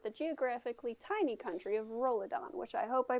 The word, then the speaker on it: Rolidon: story ilsolar with the geographically tiny country of rolodon which i hope i pronounced correctly you did while it may not